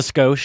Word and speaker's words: skosh: Just a skosh, just a little bit. Oh, maybe I said it wrong. It means a little. Skosh. Okay. I think that's skosh with the long O.